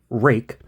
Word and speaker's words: Ruike: A rake knife. I believe that's the way it's pronounced. Rake. I don't know why, but it is.